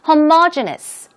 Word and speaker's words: homogeneous: Homogeneous. That's the pronunciation.